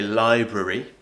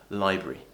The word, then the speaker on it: library: where this happen where we kind of lose the sound right we call this a lesion in words so for example Library we don't say library we usually say library dictionary I don't say dictionary I say dictionary dictionary so it happens a